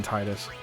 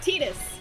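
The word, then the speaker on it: Tidus: TUS come on Jessica you know how to pronounce his name now stop it there's nothing wrong with saying Titus you're you're in good company I may be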